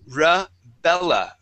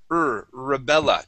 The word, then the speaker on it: Rebella: First off, I want to practice the R sound at the beginning of a word, okay? So, for example, we have the name. Okay, the name is Rebella. Rebella.